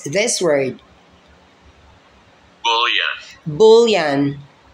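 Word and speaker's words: bouillon: i l l o n How would you pronounce this word bullan bullan say it again bullan bullan It's a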